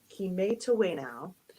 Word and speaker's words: kimetawena: That word here under the title is pronounced Kimetawena, and that is the Cree word for we all play.